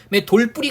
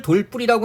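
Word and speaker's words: 돌부리: 조심하셔야 합니다 한번 보시고요 돌뿌리 같은 거 발음을 돌 뿌리라고 하지만 이건 우리가 맞춤법의 원리로 이해할 수 있죠 그죠 그래서 말 그대로 돌에 뾰족한 부분 해가지고요 돌과 뾰족한 부분인 불이 각각의 뜻이 그대로 유지되기 때문에 그죠 형태소의 원형을 밝혀 적어서 표기할 때는 돌 그리고 불이 이렇게 표기하게 되는 거죠 발음은 돌 뿌리라고 해요 사람이 정말 조심하셔야 돼요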